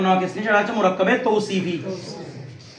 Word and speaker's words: توصيفى: নিয়ে সেটা হচ্ছে মুরাক্কাবে তৌসিফি তৌ এটা উচ্চারণ হবে কি রে সাবার বড় উচ্চারণ ও উচ্চারণ তাহলে তৌসিফি ঠিক আছে মুরাক্কাবে তৌসিফি যদি মুরাক্কাবে